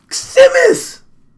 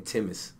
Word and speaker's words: Simmons: Simmons! I just learned how to pronounce your name, bro, and that's what you do? Damn. I was saying Timmons. The T is silent. I thought the S was silent.